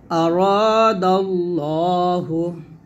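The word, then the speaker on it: أراد الله: যেমন আরাদাল্লাহু, নাসরুল্লাহি। তখন আমরা ল বলবো, এটাকে লা বলা যাবে না, ল উচ্চারণ করতে হবে আরাদাল্লাহ, এরকম।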